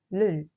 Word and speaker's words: ㄹ: It is pronounced 를, as in like in English.